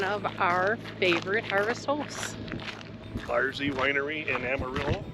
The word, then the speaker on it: Bar Z: Yeah, and one of our favorites that we've been to twice because we've been in the area is the Bar Z Winery just outside of Amarillo, Texas.